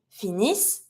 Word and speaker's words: finissent: ENT, always mute. Careful, never pronounce the ENT. So I have my double S that I pronounce the S sound, and I stop there. They finish, ils finissent, elles finissent.